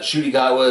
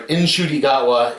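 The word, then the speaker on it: Ncuti Gatwa: an a um like I said fun uh shoy gowa is bringing a lot of I'm sorry iny gwa is bringing in a lot of energy um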